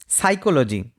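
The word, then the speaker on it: psychology: Next word রয়েছে সাইকোলজি। সাইকোলজিতে P silent থাকে। পি এর উচ্চারণ এখানে হয় না।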